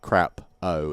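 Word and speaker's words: crapaud: Jersey burn or something it's not spelled like crap oh it's French it's like crap or you know crap Oh like should you know like shock kind of should it hot it's like that sound at the end of crap oh yeah anyway it's a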